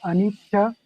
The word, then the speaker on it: Anicca: Yeah, so it can be called as Anika or Anicca.